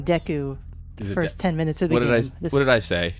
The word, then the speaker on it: Deku: got a one point achievement for getting a deco nut and man press b to flying when